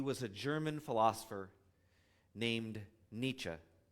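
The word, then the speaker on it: Nietzsche: He was a German philosopher named Nietz sometimes pronounced Nichi.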